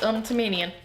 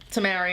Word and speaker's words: Tamarian: He's Tamanian. Okay, so... Tamarian.